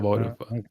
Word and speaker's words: Vauruvã: Vã, just think about the very popular Vietnamese dish, pho, right? It's the same sort of thing. Vauruvã is the same thing. Just for things say pho at the end. So Vauruvã.